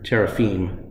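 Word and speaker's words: teraphim: idols which in hebrew is the word terraphim or terrafine to be more accurate pronunciation terrafine that belonged to her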